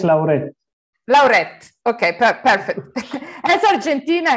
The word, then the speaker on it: Lauret: In Argentina, it's Lauret. Lauret. Okay, perfect. As Argentina is almost a part of Italy, so it's Lauret. is clear. Okay, so Lauret, that in spite of